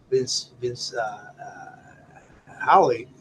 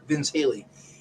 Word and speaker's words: Vince Haley: Halligan, in Roosevelt, and Vince Howley has to have sorry, I'm mispronouncing his name. Is Vince Haley?